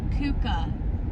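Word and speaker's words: Keuka: Starting from the left, Kuka.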